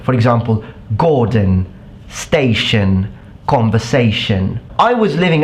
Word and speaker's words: Gordon: becomes a sound but when it's followed by an n and it's found at the end of a word it will become a it sound for example Gordon station conversation I was